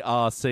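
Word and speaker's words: Arcee: C it's spelled a r c e e yeah r RC yeah like remote control it's like a play on that so clever she was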